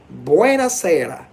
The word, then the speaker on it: buonasera: In Italian, it's buonasera. Buonasera. Buonasera. That's actually the correct pronunciation.